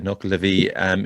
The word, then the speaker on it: Nuckelavee: going to leave it to you, James, to pronounce it. So the Nuckelavee. Okay, the Nuckelavee.